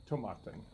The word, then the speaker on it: Tomatin: looked at the site I got three different three different pronunciations finally on their Facebook page there was a video of actually the guy who actually met when he came here in the Beaumont from the distillery and he was pronouncing so we're gonna go with tomaten okay so anyway Tabata is